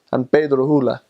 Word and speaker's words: San Pedro Sula: But oftentimes I would hear people say San Pedro Sula. And so they just kind of they say they eat their s's.